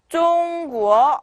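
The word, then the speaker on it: 中国: 다음에 中国 네, 중국이란 뜻이에요. 성조가 中国 네, 이렇게 올라가죠. 네.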